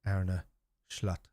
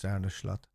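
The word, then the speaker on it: Arne Slot: Slatt now has and I'm just assuming that he's pronounced ARA schlatt so like an sh sound cuz he's Dutch and they're like their with their s's they don't really pronounce s like s so um so I'm assuming is arnish slot so um and if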